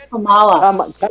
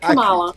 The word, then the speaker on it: Kamala: Kamala. Kamala. Kamala. Kamala. Not Kamala. If I say it Kamala.